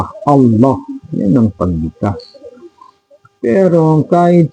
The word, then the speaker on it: Allah: yan sa Diyos Allah pangalan ala pero hindi yun ang pag-pronounce kasi ang pag-pronounce ng Allah ay malaking la double l yun eh makapal na la Allah yun ang pagkas pero